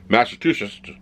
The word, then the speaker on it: Massachusetts: to pronounce the state think of massive two shits and just say it quicker then you won't sound